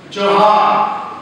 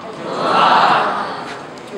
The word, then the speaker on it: Johar: So if you say hello in Santhali, the pronunciation of Santhali is hello is Johar. Johar.